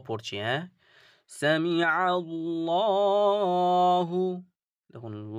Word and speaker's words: الله: উদাহরণগুলো দেখে নেই যে এইযে দেখুন জবার পেশ জবার পেশ মানে কি এটাকে আমরা পুর করে পড়তে হবে আর এটা ল শব্দের